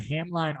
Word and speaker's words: Hamline: Yeah, and fun fact, it's Hamlin. Oh, I always say it wrong.